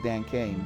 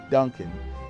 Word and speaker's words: Duncan: was like what is Dan Kane but basically if you think about it Dan Kane Dan Kane is Duncan it's just a phonetic pronunciation of my name so I just didn't